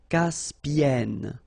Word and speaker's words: Caspienne: Caspienne.